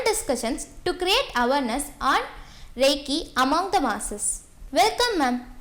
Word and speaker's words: Reiki: Reiki is a Japanese term which has two syllables in it, Rei and Ki.